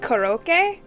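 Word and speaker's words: コロッケ: out like perfectly um in japanese it's pronounced koroke they're like um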